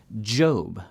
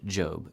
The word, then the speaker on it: Job: Job, the main character of the book of Job, could absolutely be pronounced like Job if things were different, for example. But the standard long O pronunciation, Job, is well established. Stick with it.